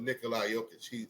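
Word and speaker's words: Nikola Jokić: Because he is highly, I should say his name probably, Nikola Jokic.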